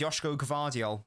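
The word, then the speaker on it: Joško Gvardiol: So, nah, I've been told it's Yoshko Gavardial, not Vardio, Gavardio.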